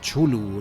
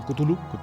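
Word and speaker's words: Cthulhu: Cuál es la buena Cuál es la buena eh pues es que es impronunciable realmente o sea era Era eraa una de las premisas que tenía lovecraft para que algo realmente pareciese de fuera del mundo no que que que que que los nombres de las criaturas fueran realmente muy difíciles de pronunciar yo creo que nos podemos quedar con con kutulu kutulu el otro día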